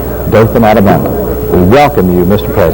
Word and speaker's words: Dothan: and his news break on CBS when he pronounced Our Town correctly Doan Alabama we welcome you Mr President it's